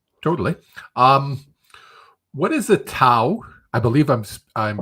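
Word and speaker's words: Tao: so great question so it's actually called Dao it's spelled t-a-t-a-o but it's actually like a Dao and it's um um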